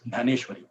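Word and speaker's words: ज्ञानेश्वर: Gita and it is known as ganeshwar in marati we pronounce ganeshwar so in 12th chapter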